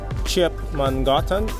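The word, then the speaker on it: Köpmangatan: How do you pronounce it? Kopmangatan, and it's the oldest street in Europe.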